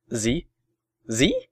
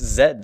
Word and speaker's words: Z: what what was that last letter you said z z what are you American it's Zed stupid and then we'd get in a heated